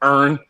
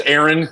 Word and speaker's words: Aaron: Okay, look, I got to work on you saying the word earn. My name is Aaron. Okay, so when you say other people earn, I need you to start pronunciating my name right.